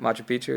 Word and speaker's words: Machu Picchu: Is that how you pronounce it? Machu Picchu, yeah.